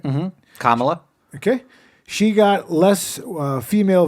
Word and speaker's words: Kamala: Well, she got Kamala. That's how you say it, right? Mm-hmm. Kamala.